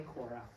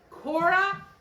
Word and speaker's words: Korah: it's it's not spelled the way that Judah spell it's a different kind it's a boy Kora Kora and Dayan and Abu Kora he was one